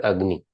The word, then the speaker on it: agni: So now onward in this class I will pronounce it as agny.